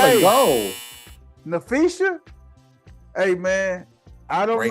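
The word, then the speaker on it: Napheesa: And it's crazy how they pronounce her name, but her name is Nafisha, not Nikisha.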